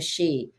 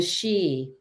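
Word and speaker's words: sidhe: a little bit about the Fey and the she and the two up to Donna I've talked about this in some other area and you know some other venues but so what we're learning is that the she are known as The Shining ones and that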